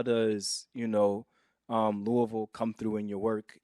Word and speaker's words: Louisville: where you're from, and I think I said Louisville. How do I pronounce it? Yeah, that sounds like the swift rebuke of that is Louisville. Right? Yes, you said it good. Yeah, Louisville.